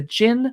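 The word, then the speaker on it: Djinn: to pre-order this book The Jin Waits a 100 years and that's spelled DJ I NN the author is shubnum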